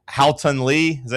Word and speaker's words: Haotong: Haotong Li?